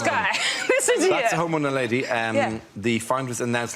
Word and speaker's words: Homo naledi: The Homo naledi, or naladi. Nadali. Homo nadali, yeah. Nadali. Homo naledi.